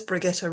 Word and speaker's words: Brigitte: ronda for hosting um my name is brigitta confuses everybody because it's spelt brigitte um but pronounced somewhat differently and i originally come